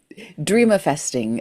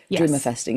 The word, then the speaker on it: dreamifesting: Dreamifesting. A dream. It sounds like there should be an A in the middle, but just like how the way you pronounce manifesting. Dreamifesting. It's dreams plus manifesting equal dream.